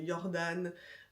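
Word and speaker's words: Jordaan: Évidemment, il y a un peu les quartiers incontournables comme Jordan, qui s'écrit avec un J, hein, le J se prononce IA en néerlandais.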